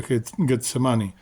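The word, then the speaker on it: Getsemaní: Para los judíos se pronuncia Getsemani, y es la conjunción de dos palabras en hebreo que significan prensa o lagar de aceite.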